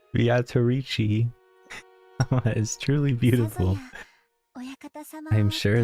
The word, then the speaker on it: Beatrice: How dare you say Beatrice's name as it's spelled? That's right. It certainly is fascinating. Beatrice. Oh, I did it again. That's the way you're supposed to say it.